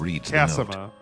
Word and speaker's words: Cassima: Actually, ma'am, it's pronounced Cassima.